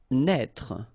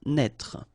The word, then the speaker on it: naître: Naître. Okay, same thing here for the circonflex. Write it, but don't pronounce it. Naître.